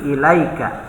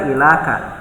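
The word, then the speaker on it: إليك: tambah dengan dhomir K jadi ilaika ya tidak dibaca ilakan nah gitu makanya pengecualian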